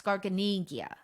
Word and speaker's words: Garganega: to say it yeah because italian basically you can say almost the way it looks garganegia garganiga well let me